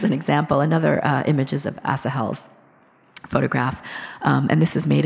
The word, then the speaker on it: Asahel: There are multiple ways that people pronounce his name, but Asahel is my understanding of it.